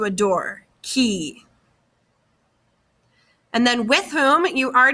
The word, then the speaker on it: qui: You've heard me say who before, but who is qui, like a key that you put into a door, qui.